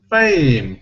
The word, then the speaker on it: fame: Fame. Of course it's fame. We wouldn't pronounce fame, but some people do when they don't know this word, because it looks like that.